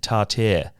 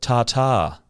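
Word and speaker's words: tartare: in a previous episode you mispronounced the word stake tart as a proud Englishman I must uphold the history of our proud language and take action when it's being butchered by a laran uneducated Australian however eloquent or charismatic they may be the correct way to pronounce the word is tartar I hope this helps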